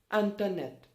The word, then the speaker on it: internet: word is internet for internet in french okay pronunciation is not hunter no it is internet it is what internet with the definite article lanternid okay so let's